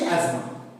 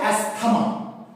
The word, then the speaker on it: asthma: অ্যাজমা এটাকে আমি মুছলাম অনেকে উচ্চারণ করে অ্যাস্থমা অনেক ডাক্তারবাবুরাও করে উচ্চারণটা কিন্তু ভুল উচ্চারণটা হবে অ্যাজমা যদিও বানানটা হচ্ছে ASTHMA কিন্তু আমরা এটাকে অ্যাস্থমা বলবো না আমরা কি বলবো অ্যাজমা বলবো ঠিক আছে এর অ্যাকচুয়াল প্রনাউন্সিয়েশন অ্যাজমা। আচ্ছা, তাহলে ডোজ কি হবে?